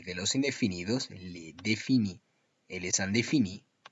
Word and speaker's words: le: Si en lugar de pronunciar le, pronuncio le y digo le garçon s'appelle Jean, estaría diciendo los chicos se llaman Jean. Y la frase no dice los chicos, dice el chico.